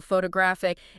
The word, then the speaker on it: photographic: Like you were saying, you know, photo stresses at the beginning. Photographer, it shifts to the second syllable. Photographic, it moves again.